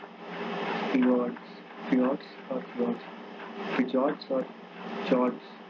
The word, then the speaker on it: fjord: Very deep glacial trough filled with seawater and making up shorelines in high altitude are called fjord, fjords, fjords or fjords. Basically, F is silent, so fjords or fjords.